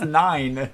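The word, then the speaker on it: nein: right I don't know it's nine nine nine they say it like that they don't just go n n all right so as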